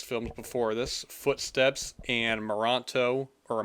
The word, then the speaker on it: Merantau: He directed 2 previous films before this, Footsteps and Moranto, or Morantu. How do you say that? Merantau, Warrior.